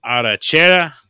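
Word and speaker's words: arrachera: And that is the arachera.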